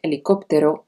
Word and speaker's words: helicóptero: sabemos por ejemplo que la letra h nunca se pronuncia en español así tenemos que decir helicóptero y no helicóptero o hamburgo en vez de hamburgo de todos modos algunas